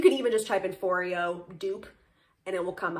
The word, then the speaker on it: Foreo: So first things first, I like to use a PMD facial cleanser or a Foreo, rhymes with Oreo.